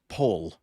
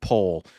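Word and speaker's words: поле: uh that's a that that that word is pronounced pole um which means field so it's a it's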